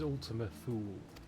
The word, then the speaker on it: Ultima Thule: It is Ultima Thule. That's how it's pronounced.